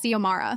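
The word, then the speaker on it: Xiomara: My name is Zomara.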